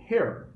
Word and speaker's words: hair: Bom, então a primeira coisa é saber que cabelo se fala hair. Tome bastante cuidado para não confundir a pronúncia com her, que de um modo geral significa dela.